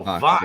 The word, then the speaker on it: Vox: Oh, Vox. Yeah. E is in Victor, not Fox.